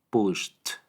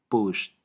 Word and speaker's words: pushed: en nuestras cuerdas vocales, la terminación ed se pronuncia como t. Entonces aquí tenemos pushed, pushed.